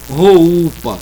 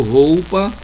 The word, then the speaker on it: roupa: Então, vogais, roupa, eu não digo roupa, eu digo roupa, pauta, flauta, vaidade, orquídea, né?